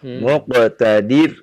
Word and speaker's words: مقتدر: Muqtadir, tipis dibacanya, jangan ditebalkan ya.